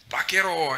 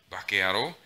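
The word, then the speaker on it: 馬鹿野郎: Years later, I learned that the word was baka and yaro, or bakearo, when spoken really quickly, which would literally mean stupid person.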